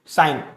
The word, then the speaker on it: sin: इसको short form में हम लिखते हैं SIN, साइन, साइन ही पढ़ेंगे। हालांकि स्पेलिंग इसकी SIN सिन हो गई, सिन मतलब पाप करना, लेकिन यहां पर वो सिन पाप करने वाला सिन नहीं है, ये क्या है, साइन